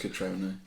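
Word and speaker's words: Cutrone: It's 3 syllables. It's Catrone.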